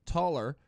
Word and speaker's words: Tuller: Now, I thought it was Nick Tucker, but no, Nick Tuller, Spencer Constance, and Keith Wickard.